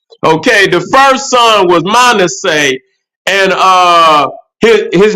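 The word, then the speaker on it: Manasseh: son was Manet okay the first son was man say and uh his his name is spelled m a n a SS e h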